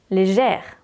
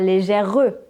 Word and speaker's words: légère: Le E autorise la prononciation du R. Légère, pas légèreux, légère.